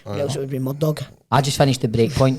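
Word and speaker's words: Murdaugh: It's spelt funny, but it's Murdoch with a GH at the end. Right, rather than UCH. Murdoch. So it's Murdoch. It's Murdoch. A silent H. A silent G and H.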